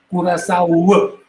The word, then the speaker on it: Curaçao: curacao, com coração, não está conhecido como índios Curaçao. Essa é a pronunciação.